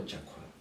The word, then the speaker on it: Jacquel: Something else that I wanted to touch on was your experience at, I believe it's pronounced, is it Jacko or Jacquel? The second.